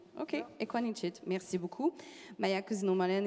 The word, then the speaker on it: Ekuanitshit: pour la bonne prononciationanit pas de cas qui ressemble à un G ok equanit merci beaucoup Maya cousin